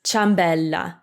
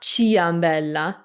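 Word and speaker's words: ciambella: so another example is chambella chambella which means donut it's not chia ambella no we just say anyway these rules are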